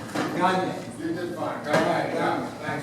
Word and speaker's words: Gange: Remember, I said Gange like lasagna. Gange.